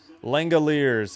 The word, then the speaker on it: Langeliers: Langeliers.